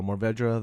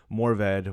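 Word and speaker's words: Mourvèdre: grape and Morvd Morvdra, however you want to pronounce it, you can pronounce it two different ways. If there was a Frenchman on or listening to this, he would probably be, you know, just really disgusted because it's morv.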